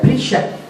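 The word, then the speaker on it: perisha: la palabra fariseo es una transcripción griega del arameo que se pronuncia prisa sí Qué significa separado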